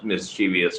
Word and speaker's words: mischievous: a video on my mischievous but let me pronounce it slowly so miss Chi V us Miss cheat V us mischievous mischievous Miss Chi V us Miss TV us mischievous um I should how